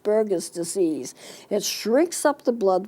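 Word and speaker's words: Buerger's disease: a little different spelling to it but it's pronounced burgers disease it shrinks up the blood vessels it causes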